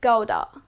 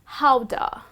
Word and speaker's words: Gouda: probability that you would pronounce it as goda but that's incorrect you are mispronouncing it well the correct way to pronounce this type of dutch cheese is howda so it goes like this how how do well it comes after the city of its origin so that's how the